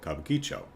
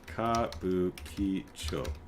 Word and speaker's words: Kabukicho: Uh, kabuki cho. Right, right. Kabuki cho. I heard someone say it as kabuki cho. I was like, what? Kabuki cho. Yeah. K A B U K I. Kabuki Cho.